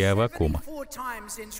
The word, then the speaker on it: Аввакум: так звали ветхозаветного пророка я точно не знаю куда ставить ударение но думаю что произносится именно так аввакум у нас в штатах как выяснилось ударение ставят на второй слог я всегда ставил ударение на последний слог если оказавшись на небе